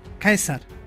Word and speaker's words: Caesar: De su nombre, César, deriva la palabra que en alemán significa emperador, Kaiser, pues los romanos no la pronunciaban como nosotros, César, sino Caesar, que se convirtió en Kaiser.